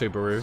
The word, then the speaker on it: Subaru: It's pronounced Subaru.